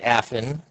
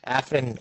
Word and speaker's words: Afin: So at this point, Affin, you said it right that time. Affin, is it? You said it was Shou? Show's good. Yeah. Show.